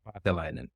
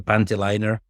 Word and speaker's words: Paatelainen: Very rarely I hear it pronounced correctly, like Paatelainen. I've heard like Paatelainen is the usual one. Then the funny one is a Panteliner. That's been there as well.